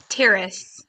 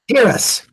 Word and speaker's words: Terrace: Terrace. Terrus. Terrus. No H. Silent H.